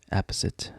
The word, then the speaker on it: apposite: fail so ingeniously um apisit I think is that how you pronounce it apisit apposite apposite app apposite okay it's not apite it's apposite in the circumstances or in